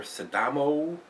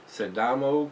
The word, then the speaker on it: Sidamo: is an imperial stout this is there saddamo I guess that's how it's pronounced s i d m o sedamo coffee Stout uh these guys are out